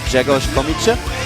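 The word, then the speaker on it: Grzegorz Komincz: So I'm always kind of failing a little bit when I try to pronounce it, but his nickname is pronounced like Jegosh Komiche.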